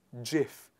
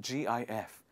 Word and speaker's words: GIF: he wanted to and the person decided to call it as jif it's not gif it is jif so the next time